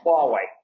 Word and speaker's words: Huawei: actually talking about earlier so how would you pronounce the name I want you do that it is Huawei Wow right okay so why is actually like